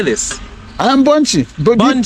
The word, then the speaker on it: Bbonchi: yeah how do you say this I am Bunchie b b o n c h i bun